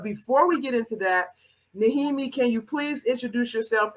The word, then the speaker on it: Nehemie: And so for my guest today, I have Coach Nehemie.